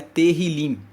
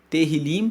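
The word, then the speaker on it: Tehilim: original hebraico corresponde a terim terim se escreve t e h i l i m terim que significa louvores então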